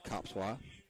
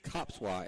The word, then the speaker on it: Kopszwa: 2 balls and 2 strikes now to Copswa. That's a unique name. Yep, Copswa. And Coach Hayden thought he was going to get me because it's spelled Kopszwa.